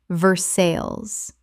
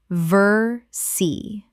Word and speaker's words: Versailles: Versailles. Correct pronunciation. Versailles. Two syllables only in English and the "les" are completely silent.